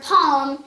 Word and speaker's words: palm: a and the word palm is in the middle of the word and for some reason the L is silent but we're gonna be